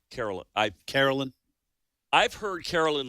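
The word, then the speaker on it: Karoline: so it's but it's she pronounces it Caroline Carolyn I Carolyn I've heard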